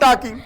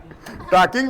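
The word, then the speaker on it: talking: Then there is no meaning of टॉकिंग। टाकिंग बोले टॉकिंग बोलेंगे। सही में तो टी ए एल के हो तो क्या बोलना चाहिए? टॉकिंग बराबर है।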